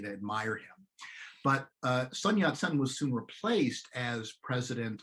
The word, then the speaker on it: Sun Yat-sen: china is on who's normally known in english as sun yat sen which is vaguely modeled on the uh cantonese pronunciation of his name and uh whatever your